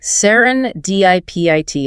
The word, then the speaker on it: serendipity: Stressing that third syllable, dip. Sarin diipit.